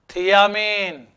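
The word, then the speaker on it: thiamine: कैसे, ये थाइमिन है, इसको हम कहते हैं क्या बोलो, थियामीन। क्या बोलना है इसको, थियामीन।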